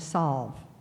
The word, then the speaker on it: salve: else I can ask there are a couple of alternate pronunciations selves sob and solve salve solve solve s a LV insult